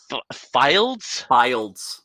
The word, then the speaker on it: Fildes: Jeez, I already forgot the pronunciation. Fildes.